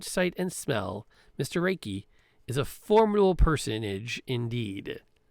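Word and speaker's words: Raike: both height and breath reiki spell that r-a-i-k-e reiki he is dressed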